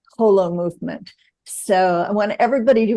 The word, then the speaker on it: Holomovement: inherent in the name Hol movement so I want everybody to remember it that way pronounce it correctly and you say whole Hol movement H movement as in whole and indeed you're absolutely